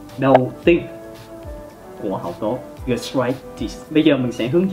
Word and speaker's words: gastritis: Khi mà các bạn phát âm các thuật ngữ kết thúc bằng -itis, các bạn hãy nhấn trọng âm vào -itis, gastritis.